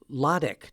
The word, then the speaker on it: Wladek: It was really Wladek, W-L-A-D-E-K, Wladek.